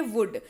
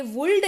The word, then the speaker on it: would: अगला शब्द है वुड, WOULD, पढ़ते हैं इसको वुड। यहां पर भी शुड की तरह एल जो है वो साइलेंट रहेगा और ये वुल्ड नहीं पढ़ा करके इसको वुड पढ़ा जाएगा, क्योंकि यहां पर भी एल क्या है?